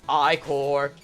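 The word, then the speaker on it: ichor: I can't believe the freaking developers did end up saying, "By the way, it's pronounced I core, not like get it right."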